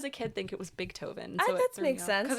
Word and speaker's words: Beethoven: Beethoven. Sorry. Do I always say I always say big toven? I swear I wasn't trying to pronounce the G.